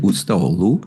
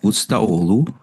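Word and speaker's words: Ustaoğlu: How do you pronounce, Borak, how do you pronounce, is it Ustaolu? Ustaolu? Something like that. You don't say the G, do you?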